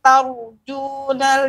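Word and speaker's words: ترجون: Ya, perhatikan ketika membaca tar jangan sampai berubah taknya berpengaruh, ya terpengaruh rok tebal. Jadi pengucapannya tor, yang benar tar. Malakum la tar dengan tor kan berbeda.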